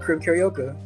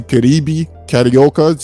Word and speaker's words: Carib Carioca: I say Caribe Carioca. He know how I'm saying it. Brazilians mainly carry that B on with the E sound.